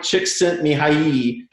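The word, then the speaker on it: Csikszentmihalyi: the optimal experience and his name is mihai chick sent me high and i actually had a hungarian person write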